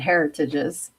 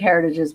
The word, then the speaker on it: Heritage: a convenience store called Heritages. It It looks like Well, I just said it wrong. I was going to say it looks like Heritages, but it's Heritage is how you say it.